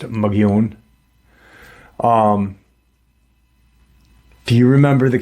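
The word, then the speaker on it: Mogollon: you know, um why what and the it's actually pronounced um muggon, but the Caucasian pronounce it magn l o n, but it's pronounced magon.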